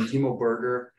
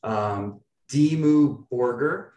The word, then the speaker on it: Dimmu Borgir: I've seen Timo Berger. I butchered that name. Dimmu Borgir. Dimmu Borgir. Is that how you pronounce it?